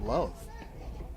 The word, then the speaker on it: LOVB: LOVB as in League One Volleyball, and you pronounce it love. You know, the B is silent.